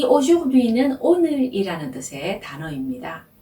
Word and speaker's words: aujourd'hui: 이 aujourdhui는 오늘이라는 뜻의 단어입니다. 자, 다시 한번 천천히 발음해 볼게요.